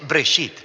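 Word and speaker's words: בראשית: se llama génesis génesis viene de una palabra hebrea se pronuncia break sit simplemente significa principio hay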